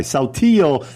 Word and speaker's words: Saltillo: Hey, I'm not even Spanish, and I know the double L is pronounced like a Y. Saltillo tile, oak flooring, spacious front yards, and mountain views.